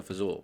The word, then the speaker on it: fagioli: My grandmother always said pasta fazool, but I'm pretty sure pasta fagioli is the right pronunciation.